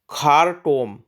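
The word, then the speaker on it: Khartoum: Sudan की capital है Sudan की कैपिटल है खार टोम के एच ए आर खार टोम टी ओ यू एम तो एक साथ इस स्पेलिंग को पढ़ना है आपने खार टोम के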